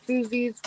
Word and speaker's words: koozie: Koozies. Whatever. I know Don will correct me. Uh, koozie is actually probably the proper way to pronounce it, but Don hates the word koozie because it doesn't belong.